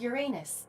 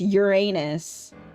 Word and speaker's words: Uranus: Greek myth, they are the children of Uranus, god of the sky, It's and Uranus!